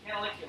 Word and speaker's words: canaliculi: Latin diminutive of the word canal would be canaliculi. Right? So it's a Latin term. This means teeny tiny canal. And how do you remember it? Canaliculi. I don't know. It's like a phrase. Canaliculi.